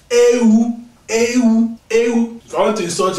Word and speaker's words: ewu: Let me teach you how to pronounce this thing right. Ewu.